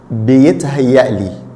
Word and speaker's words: بيتهيألي: I know the pronunciation of it is a little tricky. بيتهيألي, بيتهيألي, بيتهيألي.